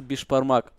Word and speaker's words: бешбармак: он сказал только что бешбармак вроде ну бешбармак Ладно Окей но это всё равно говорится типа Похоже как бишбармак бишбармак по-казахски произносится бишбармак так дула так мне